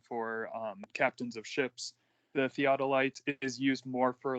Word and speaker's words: theodolite: And it's called, I'm going to try to pronounce it correctly, a theodolite, I think is how you say it.